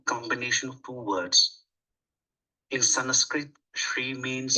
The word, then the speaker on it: Sanskrit: In Sanskrit, Shri means... It is not Sanskrit, it's Sanskrit. That N is not pronounced nice, full. It's Sanskrit, not Sanskrit. Okay.